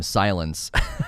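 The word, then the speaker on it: Sylens: done this um and apparently you're supposed to pronounce his name silence so that's pretty cool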